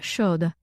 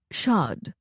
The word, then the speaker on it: Shod: "Chlemish Mangild Brathias Shod." The ambassador smiled and nodded. "And right back to you. Though I would say it is pronounced Shad, without the long O.